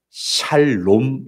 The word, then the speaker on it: 샬롬: 원하시는 소원 은 바로 샬 롬 입니다 한번 따라해 보겠습니다 살롬 4 발음을 잘 해야 됩니다 살롬 자 예수님께서 부활하시고